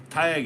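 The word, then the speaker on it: Tadhg: And like, you know, Taig or something. You know. Taig is spelled Theag or something, Theag.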